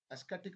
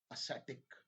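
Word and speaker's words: ascetic: एक एस्केटिक नहीं होता है ये एसेटिक एसेटिक है ना और वो एस्थेटिक आप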